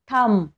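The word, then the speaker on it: thumb: आता याचे एक्झाम्पल बघा टी एच यू एम बी थंब आपण याला थंब म्हणतो थंब नाही बी सायलेंट आहे आणि इथे बघा बी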